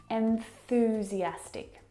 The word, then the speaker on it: enthusiastic: So what you need to do is break down this word. Start with the first syllable. N. N. Where is your tongue? What's it doing on that final consonant sound? N. It's at the top of your mouth, and the N sound is made back in the soft palate.